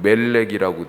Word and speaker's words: 몰렉: 비슷하죠 예 미음 리을 히브리 단어는 자음으로만 써 있고 모음이 없어요 그러니까 미음 리을로 원래 돼 있는 건데 그 사람들이 읽을 때 말이라고지 읽기도 하고 멜렉이라고 읽기도 하고 예 몰렉이라고도 읽을 수 있다라고 하는 것입니다 또 밀곰이라고도